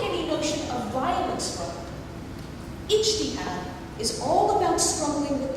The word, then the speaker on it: ijtihad: And Octave, to his credit, pronounced it beautifully. This idea is called ijtihad. Ijtihad.